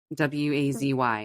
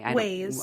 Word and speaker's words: Waze: So Wazy. Waze. Okay.